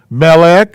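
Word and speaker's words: מלך: And that's pronounced meh. I left myself not enough room here. That's not right. Okay, now I got room. So this word is, oops, melech, meh, lek.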